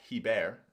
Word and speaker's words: Hebert: Scott Hebert, or Scott Hebert, if you give it the French pronunciation, is asking when the finish date for this one is.